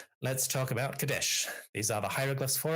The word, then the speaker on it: Kadesh: All right, let's talk about Kadesh. These are the hieroglyphs for it with the determinative for the hill countries or a foreign land. So kadesh is how we would generally pronounce it in Egyptological pronunciation for the the Hetites